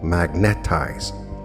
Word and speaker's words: magnetize: For magnetize, emphasize the second syllable, magnetize, while physically feeling the pulling sensation as you speak it.